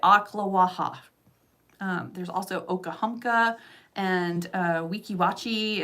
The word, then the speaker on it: Ocklawaha: And yes, that is how you say it, Ocklawaha.